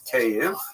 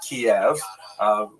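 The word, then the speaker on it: Kyiv: around the city of KV. That's the Ukrainian pronunciation by the way that's favored today because of course Ukrainian is the dominant language in the country. But it used to be called in English Kiev which is closer to the Russian pronunciation because Russia dominated much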